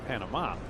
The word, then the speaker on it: Panama: Canada will give that a crack tonight, coming up at 7 o'clock against Panama.